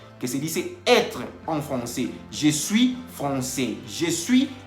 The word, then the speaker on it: français: La AI en francés se pronuncia E.